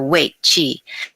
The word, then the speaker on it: Wei Qi: as coming in through our weight Chi and that's spelled Wei Qi weight Chi which is our protective